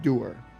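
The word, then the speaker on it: dour: H in English it's pronounced doer. It's not pronounced daer.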